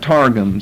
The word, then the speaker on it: targum: of Nehemiah or English you can spell it targums that's the way we would say it in English we pluralize things by